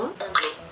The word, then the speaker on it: ongle: Yazılışı böyle. Ongle. Bu böyle yazılıyor arkadaşlar. Ye. Ve şöyle okunuyor. Ongle.